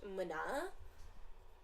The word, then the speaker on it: Muna: is muna but it's spelled m-u-n-a and it's pronounced Mana I'm up and down I think I love